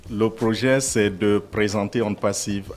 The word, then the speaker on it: OnPassive: Ils viennent nous présenter la compagnie One Passive. C'est ça, monsieur Fernand, j'ai bien prononcé? Bonjour. Pas parfaitement, c'est On Passive.